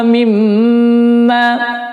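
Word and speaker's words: مِمَّا: Mim tasydid bacanya adalah ditahan 4 ketukan, gunnah mim 4 ketukan. Wa mimma. Nah, biasanya ketika membaca mim tasydid ini kadang-kadang enggak ditahan, hanya ditekan saja.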